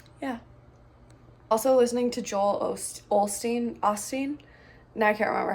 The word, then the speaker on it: Osteen: Also listening to Joel Osteen. Now I can't remember how to pronounce it. I think I always said Olstein, but I think it's Osteen. Have his book.